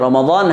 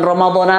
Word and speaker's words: Ramadani: Jadi bukan Ramadana lagi, melainkan Ramadani hadzihi sanati. Karena itu adalah Idafah. Ya. Jadi secara linguistik, istilah yang tepat adalah Ramadani. Bagaimana jika seseorang membacanya sebagai Ramadana, Habib? Ini tidak valid. Dari segi keabsahan, menurut syariat Islam, hal itu masih sah. Namun secara linguistik, ungkapan yang benar adalah Ramadani hadzihi sanati lillahi ta'ala.